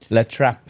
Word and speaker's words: La Trappe: Can you pronounce it for us? It's called La Trappe.